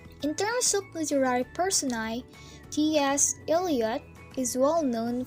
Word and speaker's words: personae: The plural of persona is personae, pronounced personae.